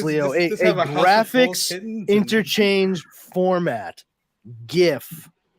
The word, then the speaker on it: GIF: GIF, not a GIF. I don't care what the guy who invented it fucking calls it. Graphics begins with a hard G.